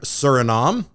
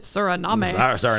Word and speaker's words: Suriname: Surinom. Uh oh, is that how you say it? Surinom. Yeah, top of South America. I was calling it Suriname.